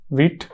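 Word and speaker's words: Vite: From वीट server, और इसको वीट बोलते हैं, कुछ लोग वाइट बोलते हैं, लेकिन इसका प्रोनाउंसिएशन वीट है।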